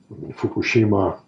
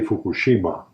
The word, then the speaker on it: Fukushima: and adjacent sides and Fukushima by the way we say Fukushima the Japanese don't put an accent on a syllable as I learned very quickly its Fukushima without the next Fukushima Hiroshima but I still